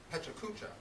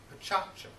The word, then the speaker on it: pecha kucha: And as an American, you may want to pronounce these words pecha kucha. But the correct pronunciation of these Japanese words is pechacha.